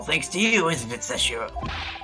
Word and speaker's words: Seishiro: It's all thanks to you, isn't it, Seshiro? Is it Seshiro or Seshiro? Seishiro? The EI is pronounced A.